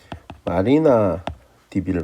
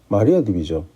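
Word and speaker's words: MariaDB: 그게 지금 헷갈렸고 마리아 딥인지 마리나 딥인지 마리나라고 말을 해놓고 좀 이상한 것 같아서 마리아 딥이죠.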